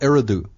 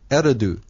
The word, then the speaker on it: Eridu: For instance, the Babylon was there was a great city called Eridu. Right. On the Tigris and Euphrates River. Eridu. Eri, because Eridu is spelled E-R-I-D-U.